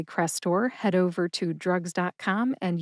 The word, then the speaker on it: Crestor: We've got crest, like the top of a wave, crest, and tor, like a torrential downpour of rain, tor. Put both syllables together and you get Crestor.